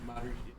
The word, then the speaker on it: Maori: Maori. Yeah, it's spelled Maori.